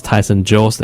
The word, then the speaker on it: Tyson Jose: during the regular season I mispronounced his name many many times but uh his name is Tyson Jose and again that's the